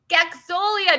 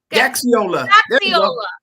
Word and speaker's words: Gaxiola: Please welcome Gaxolia. Did I say it right? No, you got it close. You got most of the letters in there. Gaxiola.